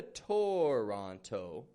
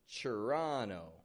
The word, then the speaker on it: Toronto: And I'd like to point out how in this city here, Toronto, the T-O-R is becoming a chur sound. Not a Toronto, but a chur, Toronto.